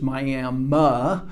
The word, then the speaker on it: Miami: that there's a tendency, because the town's name is spelled like the Florida town of Miami, but the pronunciation, the local pronunciation, is Miami.